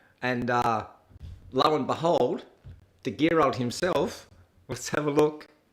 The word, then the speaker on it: Gerald: If you were to say my name in German, it would be Gerald. It's a hard G.